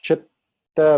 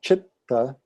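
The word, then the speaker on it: चित्त: So chitta is pronounced that way. Chitta. First syllable strong, second syllable light.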